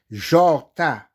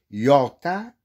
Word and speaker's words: Jorta: ou si vous voulez vous pouvez prononcer yorta i o r t a donc parce que en hébreu le J c'est le i le J é= i donc ya et vous